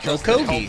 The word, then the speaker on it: Okogie: How do you pronounce it? Okogie. Is in place allows this Clippers team to. Think of a hoagie.